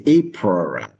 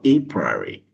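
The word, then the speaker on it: Apriori: April algorithm depending on where you were born, how you pronounce it is different. You can say apura or aporary is commonly used to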